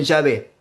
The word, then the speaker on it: Yahvé: Hoy en día, si uno va a la parte norte de Israel, algunos pronuncian Yahvé o Yahweh. Más al sur, algunos lo pronuncian como Jehová.